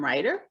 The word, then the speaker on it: Riter: I am here with Tim Riter, who is a writer, but it's spelled a little differently. His last name doesn't have a W in it.